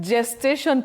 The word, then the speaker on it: gestation: Now the letter is G but the sound is J G.